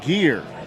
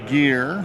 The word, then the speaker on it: Gear: so we are our pronunciation is being corrected uh number 11 for san francisco nate gear it's gear apparently number 11 for san francisco i probably wrote it down wrong it is gear okay not greer not greer